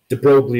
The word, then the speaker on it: de Broglie: de brea de Blois oh that's - boy de Broglie is the way I learned to pronounce it at first said that if light